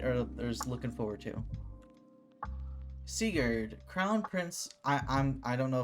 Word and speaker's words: Sigurd: Sigurd. Not Sigurd. It's Sigurd. Sigurd. Okay, Sigurd. That's how you say it.